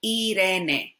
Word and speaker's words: Irene: I is pronounced E, So Irene, Irene, Irene, Irene.